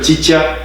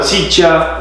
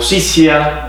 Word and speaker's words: Ciccia: porque te cuento que en Uruguay también me pronunciaban Cicha o Cicia, entonces ya uno se va acostumbrando, aunque ya cuando adquirí un poco más de conciencia, he tratado de instalar el apellido como se pronuncia, pero sí me siento más